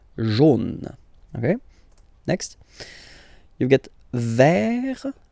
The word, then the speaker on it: vert: Next, you get vert, vert, okay? T is not pronounced here.